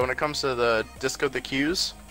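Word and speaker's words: Discotheque: But when it comes to the Disco the Q's, everyone calls them discotechs. It's actually pronounced Disco the Q, if you didn't know.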